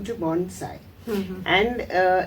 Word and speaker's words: Bonsai: changed the name to Bonsai and uh it is pronounced as a Sai and not a Zai many people make the mistake of saying Bonsai yeah it is not